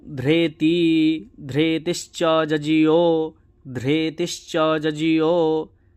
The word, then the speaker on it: ধৃতি: তারপরে দেখুন নমু চেত ধৃতিস্ীয় এই যে ধৃতিস্চ জীয় আছে ধ এর নিচে কিন্তু ঋ সবসময় যজুর্বেদে রে মতন উচ্চারণ হবে ধ্রেতি ধৃতি কিন্তু হবে না